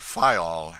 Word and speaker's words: Fayal: island of the group fayal the people there pronounce it file and put the accent on the first syllable we anchored in the